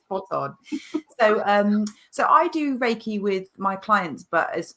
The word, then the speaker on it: Reiki: So I'm a spiritual mentor, Reiki master and tarot reader, and I work with my clients delivering Reiki.